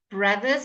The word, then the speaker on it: brothers: Brothers, can you see how the O changes to an A sound?